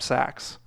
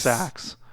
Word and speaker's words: Sachs: if that's your situation, please check out Burlap Sacks. We are in no affiliation to That's Goldman SAC. Sachs.